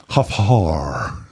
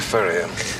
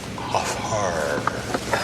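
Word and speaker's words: Hfuhruhurr: Hofhar. Dr. Furrier, it's Hofhar. I'm sorry. That's all right. A lot of people mispronounce it, but it sounds just the way it's spelled.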